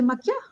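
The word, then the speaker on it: Macchia: ¿Se dice Maquia? Sí, lo pronuncia bien, la doble C. Casi nadie lo pronuncia bien. Bueno, porque es como italiano, ¿no? Un poco italiano, Maquia.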